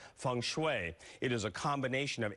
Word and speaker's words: feng shui: karma in our studio today it must be Fung Shui it is actually pronounced different ways you may have heard it as Fung Shui thanks way Fung shooey for our show we will go with what